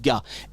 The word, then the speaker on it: gars: on dit les garçons mais on dit les gars qui n' garçon pas prononcé d'accord c'est les gars donc venez les